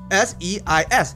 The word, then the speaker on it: seis: S-E-I-S, seis, which is 6.